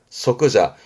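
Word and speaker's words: 即座: 그러면 좌석이 되겠는데 좌석에 좌자를 썼으니까 발음은 소끄자.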